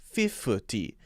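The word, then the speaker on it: fifty: 50 is an added syllable in between. 50. There's a f there that's not necessary. That makes it a 3-syllable word. 50. And instead we want to make it a 2-syllable word. That might make it more clear. 50. In fact, most people will say it with a light D sound. 50, or a D sound there.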